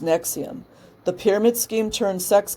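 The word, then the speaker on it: NXIVM: the first time about her involvement with Nexium pronounced Nexium the pyramid scheme turned sex cult which also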